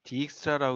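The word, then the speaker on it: Dijkstra: 그래서 이름이 조금 특이하죠 나 익스트라이 뭐 디 익스트라 있는 사람들도 있는데 일단 영어권 사람들은 다 엑스트라라고 읽고 이분도 지그 네덜란드 사람인데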